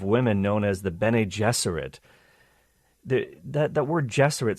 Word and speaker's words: Gesserit: It is no accident that the pronunciations of Gesserit and Jesuit are similar, as he envisioned his maternal aunts and the Bene Gesserit of Dune as female Jesuits.